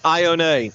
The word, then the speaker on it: Ione: we got the roster the quarterback is Ione not how I was pronouncing it so we'll get